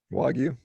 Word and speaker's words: Wagyu: The Wagyu, how do you pronounce it? Wagyu.